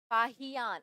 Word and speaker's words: फाहियान: अगर हम फियान की बात करें, फाहियान, अच्छे से इसका प्रोनाउंसिएशन, फाहियान की बात करें, यह भी 3 वर्षों तक कहाँ रहे?